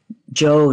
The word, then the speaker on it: Zhou: gods now after the Shang Dynasty came the Joe Dynasty it's actually pronounced Joe I'm told even though it's spelled z h